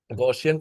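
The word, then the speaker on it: Gaussian: Set of gshian integers goshian integers sir. Ah some people say it like goshian integers. Okay. Okay. Okay sir. Gossian complex numbers also people do say there is also a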